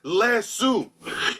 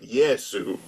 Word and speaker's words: Yesu: Islanders, and they're like, he says Lesu. He's fucking insane. He's wildin'. But it's like there's got to be so many people that are like, this is wrong. That's not how you say it. Obviously, right? Yesu, right?